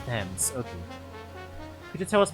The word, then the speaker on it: Thames: I pronounce it like the Ames and Flames, but it's Thames.